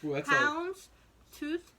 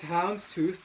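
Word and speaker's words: houndstooth: that's what it's called pounds tooth Tweed that's a hard one to say can I see make sure it's correct yeah is it correct no I think you're saying it right just that's that's if it is that's just a really mean way to that's really yeah it's hounds tooth Tweed okay that that is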